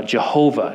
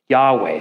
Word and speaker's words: Yahweh: that yeah and uh Scholars used to think it was pronounced uh Jehovah yahovah uh and we can now know that the closest that we can make of the actual name in light of the missing vowels is is pronounced Yahweh so it would look